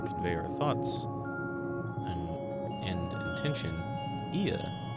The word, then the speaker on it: Ea: Ia, I believe, was the pronunciation used when referring to our people.